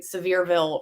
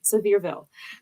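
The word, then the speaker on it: Sevierville: so please forgive me severville res residence but severville Seville um so that's not how I was saying it but that's that's how it's pronounced I'm sorry and now you'll remember it sville so Tennessee in the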